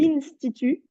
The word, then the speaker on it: l'Institut: Dans la première phrase, les autopsies, nanana, à l'Institut, toi tu m'as dit à Institut. l'Institut, Ah, L-I-N, ça fait un.